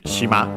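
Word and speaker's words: しま: word which is actually shima. Uh I've mentioned it uh no we have actually seen it also in previous series I think shima means island accented on the last syllable uh in this series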